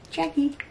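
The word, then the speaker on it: Jacqie: But yeah, it's spelled with a Q, not a K, and there's no U. No U. J-A-C-Q-I-E. Jackie.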